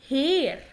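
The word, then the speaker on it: Herr: انت بتحس بالها بس خفيفة خالص، ولكن لو الها جت في اول الكلام بتنطق ها. يعني مثلا هير. هير. هير يعني سيد، يعني مثلا انا عايزة اقول مستر، عايزة اقول استاذ هقول هير. هير ماكس.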